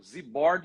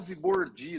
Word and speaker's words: Zibordi: Meu pai colocava acento. Zibord ele colocava no bor, né? Zibord, para reforçar, porque ele sabia que era Zibord a pronúncia correta, né? Mas as pessoas que não sabem, elas vão falar Zibordi, né?